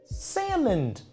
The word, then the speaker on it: Salmond: Is it like a sneaky silent L like salmon? I don't know. Freddy Tuna. I mean, clearly. Oh man. Sturgeon to salmon. Wow. James Alexander Malcolm Mackenzie Nicholas Flamel. Question number 9. What is Britain's longest motorway? What is Britain's longest motorway? They're both fishy. No, just pronounced like regular salmon.